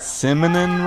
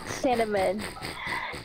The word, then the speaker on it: cinnamon: what is it called Sim and hash BR simonon rolls snon a so cute Simon why does he say it like the Simon we simonon rolls Simon so cute cinnamon a his parents it was like what you